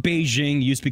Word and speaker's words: Beijing: That's Beijing. They just, Man, you know, us English speakers like to not say things the way locals say them, so we just kind of say whatever we want.